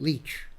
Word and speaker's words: Licht: He spelled it that way, but he pronounced it Leach. Oh, okay. Like you leach something out of the field.